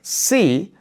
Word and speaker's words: si: So for example, in a word like see versus see. So see without an accent means if. See with an accent means yes. They are pronounced exactly the same, but in writing, we